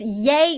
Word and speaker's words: Ye: trying not Kanye uh it's yay not ye I don't know it's spelled y-e but okay yay uh yay Kanye okay